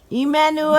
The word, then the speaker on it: Immanuel: So El Anu. Im, Anu, El. Now say that 3 times fast. Im Anu El. Im Anu El. Im Anu El. Emmanuel!